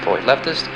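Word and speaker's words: Pollux: Gemini's brightest star is pronounced Polyleptus, and Lynx's brightest star is pronounced Alpha Lensis.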